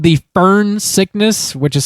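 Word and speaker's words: Foehn: Uh, so it's a real thing called the fern sickness, which is spelled f o e hn.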